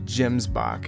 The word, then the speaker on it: gemsbok: This is our melanistic moose, along with a beige gemsbok, or how it's actually pronounced, gemsbok.